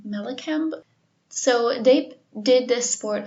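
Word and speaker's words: Mallakhamb: of today was called malacamp it i i probably butchered that because it is spelled m-a-l-l-a-k-h-a-m-b melakamp so they did this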